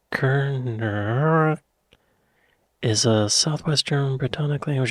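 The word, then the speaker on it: Kernewek: Cornish, pronounced Kerner, is a southwestern Brittonic language of the Celtic language family, along with Welsh and Breton.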